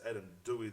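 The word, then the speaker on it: Adam Doueihi: For those of you that don't know who Adam Dwee is, it's Adam Dwey. they pronounce it, but we'll go with it. Dw. That's pronounced in Arabic.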